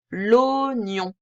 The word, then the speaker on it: oignon: de la bonne syllabes l'oignon de vue ça s'écrit oies mais ça se lit au l'oignon celui-ci piège du français parfois un peu bizarre hein et voilà pour